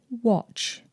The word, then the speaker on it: watch: And we've got match, batch, catch, snatch, but watch.